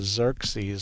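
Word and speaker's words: Xerces: There's something called the Xerxes Society. It's X-E-R-C-E-S, I believe is how they spell that. But it's pronounced like it begins with a Z, but it's an X.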